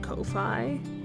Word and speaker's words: Ko-fi: I also have I think it's pronounced Ko-Fi, whatever that website is where it's like buy me a coffee, that thing.